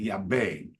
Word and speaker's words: Yabu: and then I knew and you pronounce Yabu in America is pronounced Yabe.